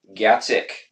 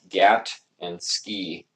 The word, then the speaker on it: Gatzke: say it sometimes yeah I have to say it's like GATT and ski it's not that hard yeah what I like